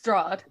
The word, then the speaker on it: Strahd: Strahd.